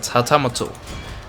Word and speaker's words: hatamoto: Yeah, that's how they pronounce it. Hatamoto.